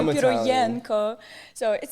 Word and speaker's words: Pirojenko: Today we have a special guest with us, Pirojenko.